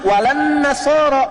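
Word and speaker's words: ولا النصارى: Cuman kita bacanya pakai eh kan alif lamnya syamsiah tuh ya. Lamnya masuk ke nun. Walan nasara. Padahal itu tulisannya la.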